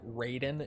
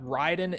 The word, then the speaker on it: Raiden: Son of a How should we pronounce the word Ryden? Like Ryden in MGS or like Raiden in Mortal Kombat? Ryden is correct. Uh MK just mispronounces it. I don't know why. I guess maybe just because it looks or it's just like more natural for English speakers. I I'm not sure why they mispronounce it in MK, but Ryden is the the correct pronunciation.